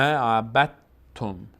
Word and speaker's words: عبدتم: به همین خاطر ب رو ما مستقیم میچسبونیم به ت، اصلا دال رو تلفظ نمی کنیم، میگیم ما عبدتم، عبدتم، ما عبدتم. ولا انا عابد ما عبدتم، عبدتم. دقت کنید که تا اینجا دال تلفظ نمیشه، کلا تا تلفظ میشه.